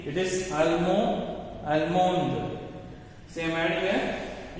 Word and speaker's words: allemand: So when I pronounce, I should not pronounce this D. Okay. No need to pronounce the D when I say. So Allemand, Allemande.